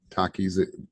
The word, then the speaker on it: Takis: My name in Greek technically is Takis, right? That's how you say it in Greek. Most everybody academically calls me. It's a long story. And yes, you pronounce it just like those chips, Takis.